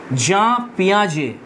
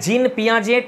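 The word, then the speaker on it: Jean Piaget: Next হচ্ছে father of child psychology, very very important, খুবই গুরুত্বপূর্ণ একটা নাম এটা, জাঁ পিয়াজে, তোমরা এটা জিন পিয়াজেট এরকম উচ্চারণ করো না, এটা জা পিয়াজে।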